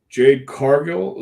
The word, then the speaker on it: Jade Cargill: is is you do still have surprises Jade Jade Cargill is that how you pronounce it yes just just showed up at